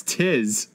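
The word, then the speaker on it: 'Tis: everything and she's like it's not te's it's Tiz and I was like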